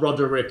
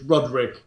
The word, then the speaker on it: Roderick: him Roderick yes and it's not rodderick it's Rodrick yes okay I'm sorry